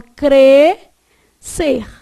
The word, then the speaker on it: crescer: Mas se fosse uma palavra tipo crescer, você concorda que esse SC aqui, ó, é pronunciado em um único impulso? Você fala crescer.